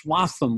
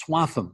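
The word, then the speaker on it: Swaffham: this you're welcome to retell this story it's pronounced swatham with kind of a th sound in the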